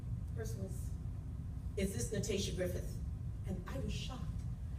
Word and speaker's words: Natatia: So when I answered, the person was, "Is this Natatia Griffith?" And I was shocked, because usually people mispronounce my name. You know, I say Natatia, they say Nastasia, Natalia, Natatia, Natia, Natit.